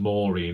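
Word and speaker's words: Moiraine: more about perin Matt morine I still can't get over the fact that rosan Pike pronounced this as Morin because it completely changed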